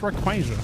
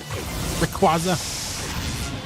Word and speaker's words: Rayquaza: Also watch Rayquaza.